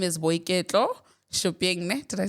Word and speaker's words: Boiketlo Shuping: Her name is Boiketlo Shuping.